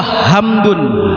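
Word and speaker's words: حمد: Tapi kalau hamdun h besar tadi kan hamida pujian bagi Allah. Kalau ha ma da artinya empedubah. Yang tadinya kita membaca kalimat segala puji bagi Allah karena kita baca hak benya hak besar segala empedu bagi Allah. Ya ini kan sama pengucapannya hanya besar dan kecilnya.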